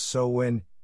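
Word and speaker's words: Samhain: dead number 2 Scotland and Ireland soin soin pronounced so when is the progenitor of many of the United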